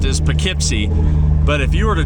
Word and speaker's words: Poughkeepsie: and if you're curious that is how it's pronounced is pipy but if you were to try to spell